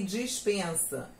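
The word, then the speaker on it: despensa: Dispensa e dispensa. A gente quase não pronuncia esse E, a gente fala praticamente dispensa e dispensa. Então, diferença quase nenhuma.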